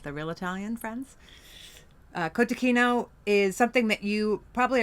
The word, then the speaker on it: cotechino: So you may have heard it pronounced before kotacino. It's actually kotakino. Um although it is sometimes even our Italian friends will say kotacino but um probably the American Italian friends, not the real Italian friends.